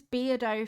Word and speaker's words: Beardo: His name is Beardo for a reason. He's a beardo because it rhymes with weirdo.